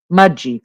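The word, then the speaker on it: Mudgee: to pronounce it right it is pronounced mud G but it's spelled mud GE um just to let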